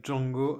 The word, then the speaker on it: Django: The D is silent.